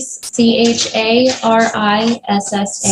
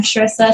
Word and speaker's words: Charissa: If you could lower your hand, state your name and spell it for the record, please. Carissa. C H A R I S S A.